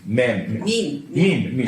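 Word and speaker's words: meme: Mean. M-E-N-E. Yeah, I know. I pronounced it in my primitive Slavic. Our writing is much simpler. It's meant to rhyme with gene. I know, of course, that's the point, of course.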